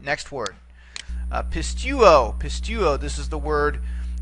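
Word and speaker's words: πιστεύω: Pistuo, pistuo. This is the word for believe or to trust. We notice here it too has 3 syllables. Pist, okay, tu, and then o.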